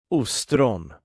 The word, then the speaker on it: ostron: The Swedish word for oyster starts with a long pronunciation. Ostron.